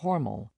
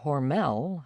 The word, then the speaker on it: Hormel: Under corporate leadership, it has reconstructed its brand, in part by accenting the second syllable of the family name instead of the first. Those we'll meet in Austin will still claim the family's pronunciation of Hormal. At first this sounds odd to my ear, an indication that the newly accentuated Hormell has taken root, at least beyond Minnesota.